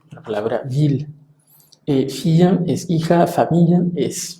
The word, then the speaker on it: ville: En algunos otros casos suena como una L, la palabra ville. Filla es hija, familia es familia, ville es ciudad.